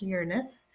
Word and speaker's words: Uranus: move on to uranus which is how it's pronounced uranus this is the seventh planet from the sun